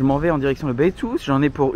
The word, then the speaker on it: Beitou: Bonjour Roméo, tu ne sais pas comment prononcer Beitou? C'est Beitou.